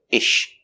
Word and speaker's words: is she: before an sh sound when you have an s before sh the s is silent so we don't say is she we say ish is she is she is